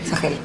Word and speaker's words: Sahel: Bueno, acá Fernando nos trajo Descolonizar el horizonte, batallas geopolíticas en el corazón del Sahel, ¿cómo se pronuncia? Sahel.